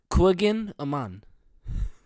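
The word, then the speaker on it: Kouign-amann: But here, let me pronounce it. Yeah. Oh, it's easy. Where do I start? It's I got it. It's Koigen Aman.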